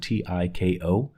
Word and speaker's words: Tiko: I'm not sure how they pronounce it. Tiko.